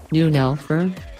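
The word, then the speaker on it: neunelf: the Porsche 911 pronounced 911 or German noon Elford is a 2-door 2+2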